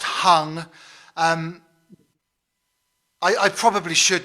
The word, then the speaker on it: Hang: don't know the answer to that question it's pronounced hung um i i probably should know but i